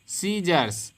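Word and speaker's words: scissors: प्रकार से देख पाएंगे अगला शब्द हमने रहा है सीजर सीजर मेंस होता है कैंची क्या होता है अभी तक हमने जाना की एस के बाद अगर सी आता है तो आपका सी साइलेंट हो जाएगा यह सभी जगह पर नियम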